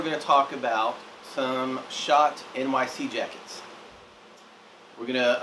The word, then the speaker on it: Schott: uh today we're going to talk about some shot NYC jackets we're going to uh go over